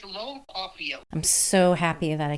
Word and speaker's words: Cauffiel: Christine, how would you pronounce his last name? Yeah, I think you're saying it right. It's Lowell Cauffiel.